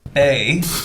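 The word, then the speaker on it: bae: Bye. Pronounced bay.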